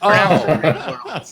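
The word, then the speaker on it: RimWorld: It's pronounced Rim World.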